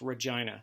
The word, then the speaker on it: Regina: It's pronounced Regina, Saskatchewan.